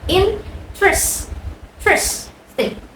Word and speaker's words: interesting: Jangan lihat tulisannya. Tulisannya memang interesting, tapi cara membacanya interest interesting. Three syllables.